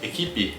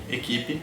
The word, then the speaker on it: equipe: última sílaba né equipe de fato nós dizemos equipe equipe porque porque a letra e é a última letra ela sofre um processo de redução vocalista a equipe a equipe